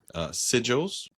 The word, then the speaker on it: sigil: Yes, we read Soul Fraud by Andrew Givler, also known as Sigils or Sigil. How do you say Sigils. that? It's sigil.